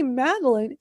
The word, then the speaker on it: Madalyn: that in the dictionary so when I say maline because it otherwise it's going to spell it m a d e l i n e and it's like no that's not how you spell it.